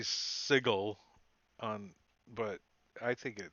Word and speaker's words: Sigil: which is the world's worst way of pronouncing that word. I call it Sigil. sigil. I know, but Chris Perkins, the D&D king, calls it Sigil, and it drives me crazy.